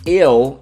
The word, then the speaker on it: eu: Eu is I, EU, and you pronounce it eu.